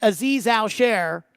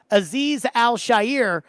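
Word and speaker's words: Azeez Al-Shaair: about the torn MCL in the knee that Aziz I'll share or excuse me as TD points out that's how it's pronounced Aziz al-shair had the uh knee injury last year and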